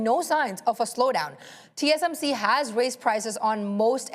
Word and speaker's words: TSMC: Intel and here's why TMSC sorry I I mispronounced it TSMC is at advantage here because even as more companies are continuing to design chips and manufacturing uh design chips.